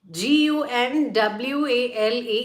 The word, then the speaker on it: gunwale: g u n w a l e, it is the upper part of the boat, upper edge of the boat or ship that's called as gunwale, g u n w a l e.